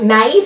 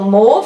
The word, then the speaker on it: mauve: The next one is called Mauve or Mauve, however you want to pronounce it, and this is a